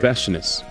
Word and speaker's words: Veshness: Like freshness, but like vesh. Mm-hmm. All right. Veshness.